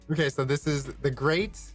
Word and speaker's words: Greyt: Okay, so this is the Great.